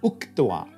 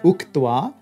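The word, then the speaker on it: उक्त्वा: The chakara will jump to the vilarka, and it becomes uktwa, having said. Watch to say, uktwa, having said.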